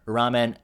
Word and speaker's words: 라면: 오뚜기, the company, recorded its highest ever ramen export figures. Ramen, that's how we pronounce in Korean.